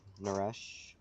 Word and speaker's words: Naresh: i prefer the 127s up no rush is how you pronounce it okay i don't think